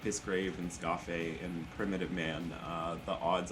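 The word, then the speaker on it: Skáphe: I always pronounce it Scaife, but apparently it's pronounced Scafé.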